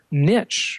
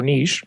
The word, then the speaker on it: niche: called the long tail niche or niche, depending on how you say it, like you said, of